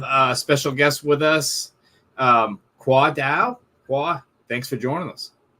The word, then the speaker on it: Khoa Dao: So tonight we have a special guest with us, Khoa Dao.